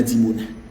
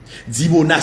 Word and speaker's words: Dimona: nous causé la et monsieur dam tourner dans dimona dimona c'est un site nucléaire historique extrêmement protégé et